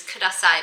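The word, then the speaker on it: ください: And I put in that little disclaimer because the way you say please is kasai, but you wouldn't just say that.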